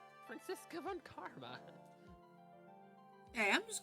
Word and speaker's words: Franziska: I always hear people call her Francesca. There's no C! Everyone keeps calling her Francesca. Franziska Von Karma.